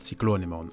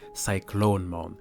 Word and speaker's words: Cyclonemon: on a dismal called cyclone iman as I call it but I think the right pronunciation would be cyclone moan a dragon Digimon with